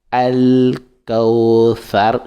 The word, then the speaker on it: الكوثر: La lettre tha, ça se prononce au bout de la langue encore, comme la lettre zi, comme nous avons dit auparavant.